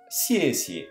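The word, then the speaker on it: 谢谢: Donc pour merci, sié. Attention, là, la deuxième syllabe perd son ton. Sié. On ne dira pas sié, mais sié.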